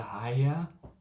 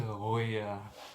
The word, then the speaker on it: Hoya: Before everyone went to sleep, he's like, can I get a higher? Mate, it's can I get a Hoya? Say it right if you come from Cape Town.